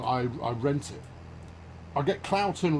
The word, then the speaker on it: Cloughton: I get Cloughton wrong every single week. That's because it's stupid. I've got nothing against the town / village of Cloughton, but it's a flipping English town name, and